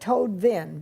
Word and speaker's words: Toadvine: She pronounces it Toadvine, but it's spelled Toadvine.